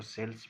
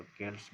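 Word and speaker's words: Celts: अच्छा, एक और चीज़ मैं आपको बताना चाहूँगा कि ये जो सेल्स हैं, आप इसको सेल्स भी प्रोनाउंस कर सकते हैं और केल्स भी कर सकते हैं।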